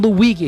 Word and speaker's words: Luigi: Even when Luigi and yes, I know it's pronounced Luigi.